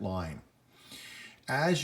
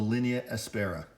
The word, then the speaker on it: linea aspera: There's going to be the only line that is actually pronounced line, but it's pronounced in Latin, which is linea, and it's called the linea aspera.